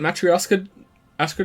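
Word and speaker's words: matryoshka: of themselves pretty good pretty good is it mattress Oscar dolls good try I pronounced it properly damn first time for everything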